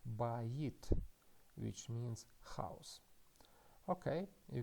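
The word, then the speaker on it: בית: And after that we have hirik, which means e, and the final letter is taf, t. So we can read this word as bayit, which means house.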